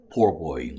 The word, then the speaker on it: po' boy: 네, 그러한 문화적, 환경적인 다양성을 또 보여주는 그러한 음식, poorboy인 것이죠.